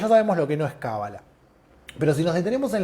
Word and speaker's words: cábala: recepción de una tradición se pronuncia cábala cuando en general con acento en la primera cuando hablamos en español